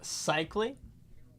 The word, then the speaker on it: Sikma: It's pronounced Sikma.